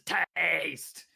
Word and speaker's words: Tahste: And just to clarify the pronunciation of the second team, they are known as Tahste!